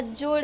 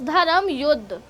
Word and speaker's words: धर्म युद्ध: I know pronunciation इसकी जुदा या जुड़ या पता नहीं कैसे होती है क्योंकि जे लगा हुआ है, बट इट्स धर्म युद्ध।